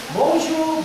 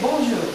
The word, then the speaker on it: bonjour: For example, if I say bonjour, good morning, good afternoon, bonjour. Bonjour, did I say pronounce that as bonjour? It is not bonjour, but bonjour. Bon, bon, bonjour, bon. The on is on.